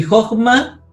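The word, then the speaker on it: חָכְמָה: El primer ejemplo, dijimos, de la regla es Jochma. Y Jochma, aquí lo tenemos dividido por la sílaba cerrada no acentuada. ¿Por qué? Porque la acentuación está en la Kametz Gadol, que está acá atrás.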